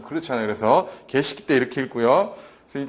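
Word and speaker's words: Geschichte: 자, 그 다음에 독일어로 과거에 일어난 일, 이게 참 여러분들 발음이 개식기 때 이렇게 있습니다. 그래서 독일어 발음 자체가 좀 그렇잖아요. 그래서 개식기 때 이렇게 읽고요.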